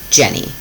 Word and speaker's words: Jennie: The first part is the Turkish spelling of my name in English, which would be pronounced Jennie, which is my name.